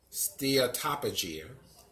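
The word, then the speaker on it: steatopygia: dia stair top of Jia's that's how you pronounce it steer top of gene and that is a state of having substantial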